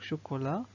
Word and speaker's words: chocolat: Donc premier mot, donc chocolat, il contient le T à la fin qui ne se prononce pas.